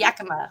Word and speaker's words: Yakima: Yakima. Is it? Yakima. Yakima. Ah, Oh my okay, God. that's yeah. Okay. Okay. The last one. Yeah. Roll the Oh. R. Yeah. Yakima.